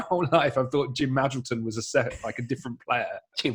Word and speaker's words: Magilton: think it's Oxford, and he pronounces Jim Magilton as Jim Magilton. And I grew up thinking that Jim Magilton was a different player to Jim Magilton because he'd said the name wrong on his commentary.